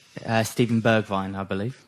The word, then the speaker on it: Bergwijn: Stephen Bergwijn, I believe. Bergwijn. Is the pronunciation.